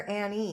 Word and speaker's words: Annie: And I forgot to ask you before we started, is it Ann or Annie? Um, both work. I go by both.